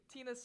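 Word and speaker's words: Tyna: came up with it it's Tina crime oh my God I love that it's really really cute Tina's spelled with a Y oh my gosh t-y-n-a of course that is that's Tina crime um I love it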